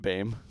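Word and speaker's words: Boehm: curator of aviation eric blame it it says pronounced bame and they highlighted it like i'm supposed to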